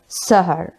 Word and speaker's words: سِحْر: ज़बर हा रॉ ज़बर सहर, और सीन की ज़ेर के साथ जो इस्तेमाल होता है वो है सीन हा ज़ेर सेह और रॉ सेहर।